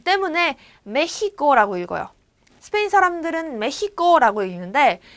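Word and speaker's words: México: 그래서 이제 멕시코라고 읽는 멕시코 사람들도 있어요. 하지만 메히코라고 옛날에 말을 했다라는 거 그리고 지금도 더러 얘기를 하고 있다라는 걸 여러분들이 알고 계시면 됩니다. 메히코 이렇게.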